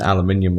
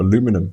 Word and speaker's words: aluminium: The 17 Pro is incredibly slippery cuz it's in it's in aluminium or aluminum as you guys say it now.